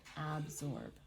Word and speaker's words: absorb: If you hear absorb, can you hear where the stress falls in the word? Mm-hmm. Which syllable gets more stress? Beginning. Absorb. Does it get the beginning? Or is it absorb? Oh, it's the second. It's the second. And when we have a stress in a place in a word, the syllables that are not stressed will sometimes be changed in our pronunciation to an sound. But it's really absorb.